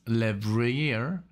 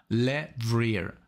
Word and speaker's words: Levrier: chris lechferd and travis levreyer i'm i hope i'm pronouncing this correctly le vrier like my last name is also le if you didn't know